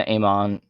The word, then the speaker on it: amen: that's how most peop like amen amon different people pronounce it different ways but this is same